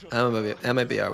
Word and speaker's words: MIBR: MIBR were just not ready for it. MIBR. I think we should use the Portuguese thing where they say Mibr. It's easier. MIBR.